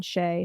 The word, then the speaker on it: Shea: to my website is Shea spelled like shea butter so s-h-e-a which